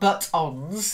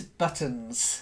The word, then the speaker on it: buttons: the first one is the stress it's not buttons it's buttons okay that's it buttons would be something slightly different because the butt is oh yeah on the